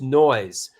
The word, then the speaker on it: Noi!se: like this fun fact the name of the band is pronounced as just noise but the addition of